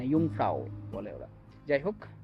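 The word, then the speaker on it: Jungfrau: জি ইউ এন জি এরকম করে কিন্তু যে উচ্চারণটা হয় না ইউংফ্রাও বলে ওরা যাই হোক তো এটা হচ্ছে ইন্টারলেকেন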